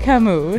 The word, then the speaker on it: Camus: Okay, Albert Camus.